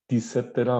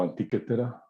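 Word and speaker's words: Antikythera: Y una cosa fenomenal que desarrollaron los griegos, también varios cientos de años antes de Cristo, la anticétera o antiquétera, dependiendo de la pronunciación, un instrumento para pronosticar movimientos de los astros, una computadora analógica, ¿sí?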